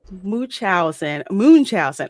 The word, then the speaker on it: Munchausen: And it's Munchausen. Okay, thank you. I'll have to remember how to pronounce that from now on.